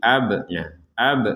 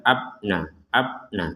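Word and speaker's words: أبناءهم: yarifunahu Kama yarifuna abnaahum ada ba sukun kita pantulkan jadi ab ab Nah jadi jangan sekedar abna abna itu enggak ada kan enggak ada pantulannya kalau sekedar upna karena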